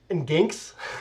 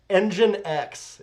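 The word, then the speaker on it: nginx: biggest one is this which is not pronounced in ganks that's what i thought it was uh oh man you're gonna die engine x is how that's pronounced um and then if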